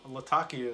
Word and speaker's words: Latakia: of ready Cavendish Latakia do you prefer Latakia Latakia Latakia is the proper way to pronounce what is it and